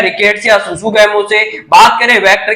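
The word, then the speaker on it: tsutsugamushi: Scrub typhus का जो positive agent होता है वो होता है रिकेट्सिया सुसुगैमुसी। रिकेट्सिया सुसुगैमुसी क्या है, आपको याद रखना है, यहाँ पर टी साइलेंट है।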